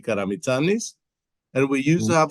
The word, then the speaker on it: Karamitsanis: starting with my family name is pronounced Karamitsanis, which in a Karamitsanis.